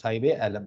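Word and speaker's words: Saheb-e-Alam: Sai Bealam, you have to pronounce Sai Bealam.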